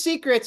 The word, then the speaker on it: Secrets: Is it Secrits or Secrits or? Right, so it is Secrets.